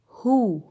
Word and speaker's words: who: اذا جه بعد ال WH حرف O هنا هيتنطق ها، تمام؟ زي ايه؟ زي كلمة who يعني من، برضو أداة استفهام. ال WH هنا وراها حرف ال O فنطقته ها، يبقى هو، هو، هو يعني من.